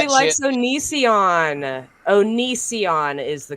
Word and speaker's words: Onision: Onision is the correct way to pronounce that.